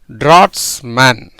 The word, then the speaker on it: draughtsman: இதை எப்படி சார் அப்படின்னா, ஒரு வார்த்தையில் இடையில் GH வந்தால் அந்த GHக்கு என்ன அது கிடையாது? உச்சரிப்பே கிடையாது. இடையில் GH இருந்தால், சேர்ந்திருந்தால் அதற்கு உச்சரிப்பு கிடையாது.